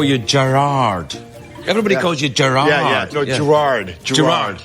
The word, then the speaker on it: Gerard: like that it's yeah it's the emphasis on the first part but here in America it's Gerard and it goes wrong